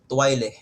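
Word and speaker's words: toilette: However, in French this is going to be Twile. Twile.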